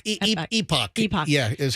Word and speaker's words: Epoch: it's the complete opposite I thought it was pronounced Epic no Epoch Epoch EP yeah is how you pronounce it okay